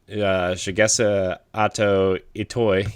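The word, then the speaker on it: Shigesato Itoi: At the end of last month, the company Hobanachi Shinbun, owned by Mother series creator Shigesa Ato Itoi.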